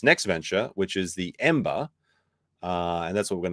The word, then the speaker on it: EM8ER: Ember. And it's spelled with an 8 for the B.